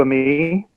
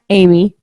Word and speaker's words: Amy: Amy is fine. Amy. Yeah. It's spelled A-M-Y. Yes. Ami, right. No, Where I'm, it's, I'm sorry. Where I'm from, we pronounce that me. I apologize. I Oh. apologize. Amy. That's Amy. okay.